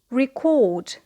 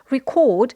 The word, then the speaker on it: record: To record. So here the stress is on the second syllable because it is a verb.